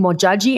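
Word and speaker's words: Modjadji: I want to say Queen Mojaji. Am I pronouncing that correctly?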